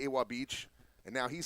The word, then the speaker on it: Ewa Beach: the right direction to start this game off eba beach eba beach okay i got you you pronounce it e bob beach there you go